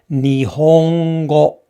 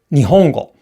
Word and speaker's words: 日本語: So our internal metronome, it's going like ni, hon, go, because we're thinking about the vowels. We distinguish the syllables by the vowels, not the consonants. However, in Japanese, the Japanese internal metronome, it goes like this. Ni, ho, n, go. So there are 4 beats in this word.